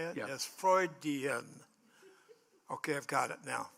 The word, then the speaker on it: Freudian: Yes, Freudian.